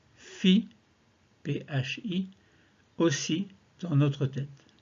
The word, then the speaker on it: Phi: Et en expirant, nous prononcerons dans la tête le son Phi, qui s'écrit P-H-I, donc une syllabe Phi.